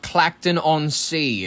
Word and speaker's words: Clacton-on-Sea: It's called Clacton-on-Sea. It's not actually just Clacton. That's how we pronounce it, and that's how some people do. What's what they call it? If they're shortening it up, but it's Clacton-on-Sea if they're being fun.